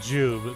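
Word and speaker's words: Jiub: So, the character that I was thinking of was Jube. That's spelled J I U B.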